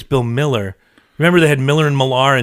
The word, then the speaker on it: Mueller: Oh, you can say his name right, even though it's spelled... Actually, it's Bill Miller.